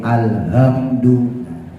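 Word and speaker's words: الحمد: ya Pak lafaz Alhamdulillah Itu haknya tipis ya jadi coba dilatih-latih sebab kita nih yang laki-laki itu cenderung suaranya ngebas Iya ya hati-hati nanti ketika ngucap huruf ha jadi H gede alhamdu dilati-lati tuh h-nya H kecil H tipis alhamdu alhamdu alhamdulillahiabbil alamin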